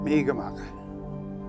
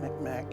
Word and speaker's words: Mi'kmaq: Mi'kmaq. That's the native pronunciation of the word Mi'kmaq. Mi'kmaq is the European version.